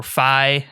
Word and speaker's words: Fi: I like that he chimes in every once in a while, very Fee-esque, or Fi, as Cody likes to correct my pronunciation.